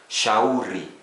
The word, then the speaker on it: shauri: SH, sh, as in shop. In Swahili, we have a word like shauri, advice, shauri, advice.